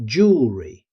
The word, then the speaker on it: jewelry: Most native speakers say jewelry. Notice how quickly the middle syllable is spoken.